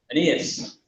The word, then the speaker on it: Aeneas: Because it sounds a little, it reads a little like it's Amos MacDonald, and I'm sure it's not. Aeneas MacDonald. So, right, good.